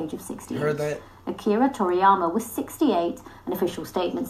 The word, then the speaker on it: Akira Toriyama: I didn't want to pronounce his name wrong. Akira Toriyama, rest in peace.